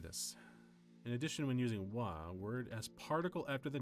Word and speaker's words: は: In addition, when using wa, word as particle after the noun, we only pronounce wa, but definitely not ha.